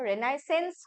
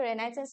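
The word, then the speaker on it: Renaissance: father of Indian रेनेसो father of Indian रेनेसो रेनासेंस होय हमें जो बहुत एने रेनासेंस होय किंतु रेनासेंस न होय हमें प्रोनाउंसिएशन करो प्रोनाउंसिएशन की होरे इट इज़ रेनेसो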